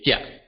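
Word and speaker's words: 食: Eat in Hokkien is jia. Okay, let me repeat. Jia. Now write it down yourself. How would you spell it?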